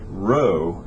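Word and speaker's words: rho: be row Theta fi row is the distance from the origin to the point so right here is the row as in row row row your boat right but uh that's how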